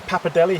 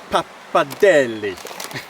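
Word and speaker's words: pappardelle: So, I've got some papadelli here or papadelli. You meant to really pronounce the de.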